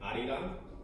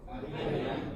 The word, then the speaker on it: Arirang: It's actually an L in the Korean alphabet, but I don't know when it's romanized.